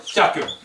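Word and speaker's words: ひゃく: Hyaku. Hyaku. That's a small ya. Doesn't look like it, but it is.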